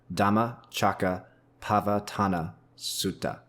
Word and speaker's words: Dhammacakkappavattana Sutta: for English speakers is best spoken by breaking this up into its component parts so the name is the dham Chaka patana sua all right dham Chaka pava Tana sua that's correct that okay